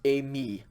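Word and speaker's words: εἰμί: pretty it would be pronounced a me and it's i will go okay so a me accent on the second syllable is i am a me with the accent on the first syllable as i will go okay there are only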